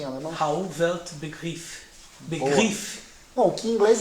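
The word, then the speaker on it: Rauh-Welt Begriff: isso que é rwb é assim mesmo se pronuncia em alemão Raul velt begriff begriff bom que em inglês é r world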